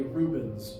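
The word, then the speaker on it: Rubens: device is called a Reuben's tube it's spelled like the sandwich but without the the E it's R uen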